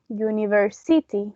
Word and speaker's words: university: pronounce it, has is the primary stress on the third syllable. University. We don't say university or university.